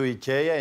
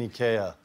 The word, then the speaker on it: IKEA: And I'm like, but then you go to IKEA and you get the furnitures. And then the broker goes like, rich people, they don't buy furnitures in IKEA.